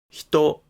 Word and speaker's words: ひと: pronunciation of the word "hito ". First, the word initial consonant in "hito" is pronounced as a voiceless palatal fricative. Not [h]. So, be careful.